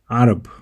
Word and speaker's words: عرب: The word for Arab is pronounced Arab using the letter ayn.